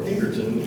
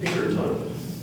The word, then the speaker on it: Pinkerton: speech please it's Avil are there any alternate pronunciations the two we have are Pinkerton and Pinkerton Pinkerton p i n k e r t